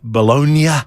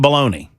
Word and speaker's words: bologna: to pronounce it, you know, bologagna or uh bolognia. Bolognia. But I am pronouncing it bologna because that's how we do it in America.